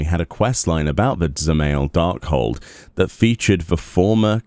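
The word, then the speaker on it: Dzemael: You don't pronounce the D. It's Zemail.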